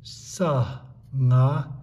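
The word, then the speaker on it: སངས: This sa remains silent. So sa, nga, sa, sang.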